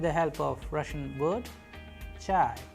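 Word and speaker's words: чай: And how do we pronounce them? With the help of Russian word chai, chai, which means tea.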